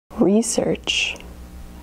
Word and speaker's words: research: Research, research. Research and research both have two syllables. Research and research. That's right, this word has two pronunciations. We emphasize the first syllable when it's a noun.